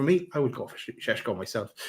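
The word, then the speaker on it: Šeško: Next one is Shesho as that's how you pronounce his name apparently. Not Cesco as I was saying all for the last good number of years. Shesho like you're Sean Conry.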